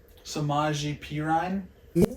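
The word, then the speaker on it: Samaje Perine: Samaji Perine.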